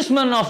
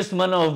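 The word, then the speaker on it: Smirnov: अभी एट the moment मैं जो स्मन ऑफ बोल रहा हूं उसका स्पेलिंग है एस एम आई आर एन ओ वी।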